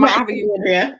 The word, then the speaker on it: Andrea: I know Andrea, like Alexandria.